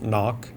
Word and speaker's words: Nook: When the dust settled, there stood Nook, pronounced knock, soaking wet and giggling into her phone's light.